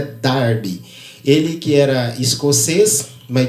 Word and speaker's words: Darby: John Nelson Darby, melhor dizendo, a pronúncia correta é Darby.